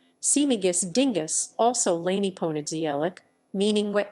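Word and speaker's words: Śmigus-dyngus: dingus day in central europe smigus dingus polish pronunciation simagus dingus also lainey ponadzielic meaning wet monday in polish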